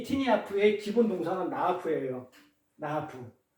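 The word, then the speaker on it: נאף: 이 티니아프의 기본 동사는 나아프예요. 나아프. 이 나아프는 이게 우리가 발음을 나아프라 하지만 글을 쓸 때는 기역, 니은, 히읗, 피읍 이렇게 하듯이 이렇게 눈, 알레, 페라는 자음 단어로 이렇게 쓰는 거예요.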